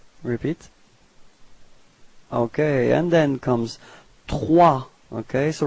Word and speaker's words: trois: Okay, and then comes trois. Okay, so remember that O plus I gives you this wa wa wa sound. Okay, and then the final S is not pronounced. So you get this trois.